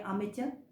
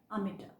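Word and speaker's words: amateur: इसकी जो American pronunciation है वो क्या है? आमेचर। और जो इसकी ब्रिटिश प्रोनाउंसिएशन है, जो कि हम इंडियन ज़्यादातर फॉलो करते हैं, वो क्या है? आमेटर।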